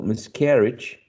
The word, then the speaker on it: miscarriage: In this case, the stress falls on the second syllable, or if you want to look at this from a different perspective, on the first syllable of the root.